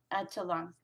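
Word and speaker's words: Atitlán: Almalanga stratovolcano is the oldest edifice and underwent collapse prior to the caldera forming eruption of Lake Atitlan, the major chronological marker of volcanism in the region.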